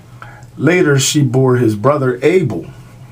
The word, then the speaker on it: Abel: Later she bore his brother Abel. Not A-B-L-E, A-B-E-L.